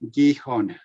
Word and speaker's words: Gijon: It's a Spanish pronunciation, Gijon.